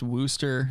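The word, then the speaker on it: Worcester: don't know maybe yeah kyle says it's like worse or mass is pronounced wooster stupid-ass english name cities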